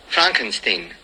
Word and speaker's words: Frankenstein: frankenstein' you're putting me on no it's pronounced Frankenstein do you also say Frode Rick why isn't it friend with Frumkin steam it isn't this Frederick Frankenstein